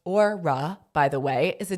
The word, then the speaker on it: Aura: Aura, pronounced Orura, by the way, is